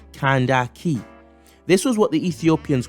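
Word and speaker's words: Kandake: slap the taste up nope not Candace that's the anglicized sort of bastardized version of an ancient African word properly pronounced kandaki this was what the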